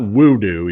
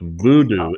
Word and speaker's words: Woodoo: na in Germany it's it's not woodoo even though it's spelled that way because the W is pronounced like a V so it's Voodoo Inferno disr which which